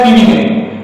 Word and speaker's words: feminine: উচ্চারণটা এরকম হবে ফিমেনাইন।